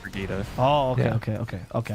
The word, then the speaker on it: Brigitte: i mean it's it's spelled bridget but oh pronounced brigitta oh yeah okay okay okay i know who